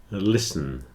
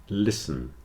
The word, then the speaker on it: listen: in all of these the t is not pronounced especially in Words with a STL spelling Castle whistle listen Castle whistle listen answer and sword have